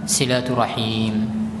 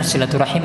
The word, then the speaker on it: silaturahim: umurnya maka maka hendaknya dia melakukan silaturrahim dan yang benar silaturahim Abah silaturahmi Hai Hah